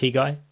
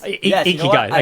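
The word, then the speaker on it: ikigai: Are you familiar with a guy? I do not know. I don't remember the name. Oh man, you should check out the guy.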